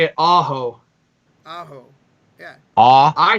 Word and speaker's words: Aho: Sebastian Aho. Wait, Aho? Sebastian Aho? Yeah. Thank you, Kim. Bro, she said you could only say it Aho.